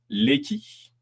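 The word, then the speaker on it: Lecky: D'après l'historien Léqui, donc ça s'écrit L E CY, c'est l'influence du grand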